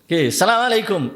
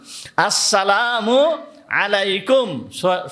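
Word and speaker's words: السلام عليكم: সালামু আলাইকুম এর দ্বারা সালাম হবে না। আসসালামু আলাইকুম। সঠিকভাবে এইটা উচ্চারণ করতে হবে।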